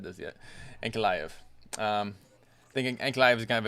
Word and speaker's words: Ankalaev: Ankalaev. Ankalaev.